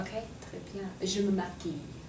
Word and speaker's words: maquille: Je me maquille. Right, don't pronounce the A at the end.